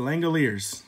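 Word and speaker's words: The Langoliers: last year cuz I didn't know how to pronounce the Langille ears it's the Langille ears see I know how to say it now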